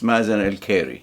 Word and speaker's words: Mazen Al-Khairi: My name is Mazen Al-Khairi, in Arabic, Al-Khairi. Here, because the Kha is difficult to pronounce, it's Mazen Al-Khairi, okay?